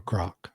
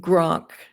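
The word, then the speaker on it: Grok: it pronounced Groank or Groank? We want to keep saying Groank because we're familiar with the football player, but it's Groank.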